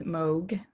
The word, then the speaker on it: Moog: my name is and it's moog is the pronunciation last name uh i've